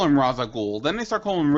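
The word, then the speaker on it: Ra's al Ghul: look at the anime series they call him Raza goul then they start calling him ra aloul no the anime series he was always re aloul in Batman Beyond tal is in an episode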